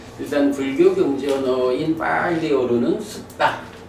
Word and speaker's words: sutta: 뭐 산스크립트로는 숫 경제 언어인 빨리어로는 숙다. 숙다. 요게 이제 발음이 일반 영어 발음하고 조금 달라요. 어 그래서 숙다 이래 되는데 어 숙다.